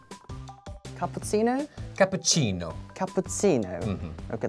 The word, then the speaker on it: cappuccino: Cappuccino. Capuino. Okay, that's more like Italian style.